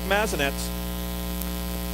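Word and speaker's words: Mazanec: some push and shove mark mazzanets is how he introduced himself the pronunciation 21 games last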